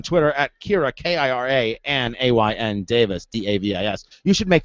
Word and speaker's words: Ayn: Although we say Ann in our family, we just pronounce it Ann, but it's Ayn.